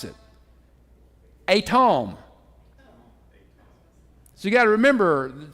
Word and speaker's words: Edom: how you pronounce it atom so you got to remember it's not southern English that's Hebrew right now at Tom